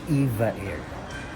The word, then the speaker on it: EVA Air: Tinanong ko yung isa sa flight attendant doon kung ano ba yung tamang pronunciation ng Eva Air. Yan ang sabi nila Eva Air.